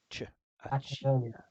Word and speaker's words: Accioli: I don't know what two C's does in Italian. Normally a ch sound. Ch. Accioli. So Accioli. Spinello Accioli. Accioli.